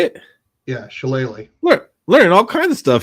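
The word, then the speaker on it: shillelagh: was is that how you say it yeah shalele learning all kinds of stuff here tonight it's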